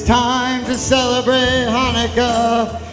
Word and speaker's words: Hanukkah: So tell George Gomez and Ann Kaufmanica it's time to celebrate Hanukkah. It's not pronounced Chanukah. The C is silent in Hanukkah.